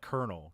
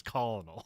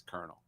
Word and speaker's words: colonel: stealing that from French so it's also like kernel because there's no R in kernel no it's colonal no one that not even the British say that make their weird received pronunciation to say it that way it's always Colonel um so then we